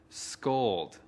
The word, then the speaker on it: scold: Từ scold có một âm tiết. Trọng âm của từ scold ở phụ âm thứ nhất.